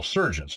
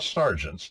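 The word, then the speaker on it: serjeant: called surgeons at law surgeons not sergeants Sergent that's the English way to say Sergeant see you just change the vowel different pronunciation same word the consonants remain cons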